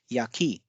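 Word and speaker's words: 焼き: So here you can see Ya has a low pitch and ki has a high pitch. So it's yaki.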